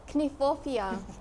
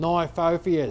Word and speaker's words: Kniphofia: Kniphofia. Really? Yeah, because it's a South African plant. Oh, right. They'll pronounce the K and the N together.